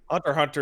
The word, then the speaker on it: Hunter x Hunter: Well, you know, you can Hunter Hunter is the worst cuz the X is just not pronounced.